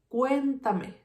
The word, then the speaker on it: cuéntame: Then where is the strongest sound? Cuéntame, cuéntame. If I have the stress in the third syllable, this word is called esdrújula.